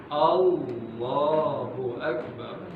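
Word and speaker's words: الله أكبر: Jadi kalau di dalam memimpin salat jangan Allahu Akbar, Allahu Akbar. Hamzahnya kemana tuh? Ya, harus dilafalkan Allahu Akbar.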